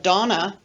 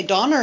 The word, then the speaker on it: Donna: from new zealand and he pronounced my name instead of donna and i he would say donner and i donner and i he used linking r at the end of my name to connect it to another word and